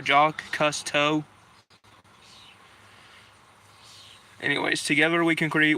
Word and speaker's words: Jacques Cousteau: Josh Cousteau? No, Jacques Cousteau.